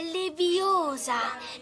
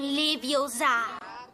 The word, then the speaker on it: Leviosa: Per di più sbagli pronuncia. È Leviosa, non Leviosa.